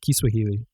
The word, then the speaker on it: Kiswahili: Kiswahili is actually how they say it.